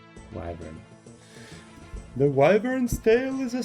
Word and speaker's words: Wyvern: Wyvern. Wyvern. Okay, not Wyvern. Wyvern.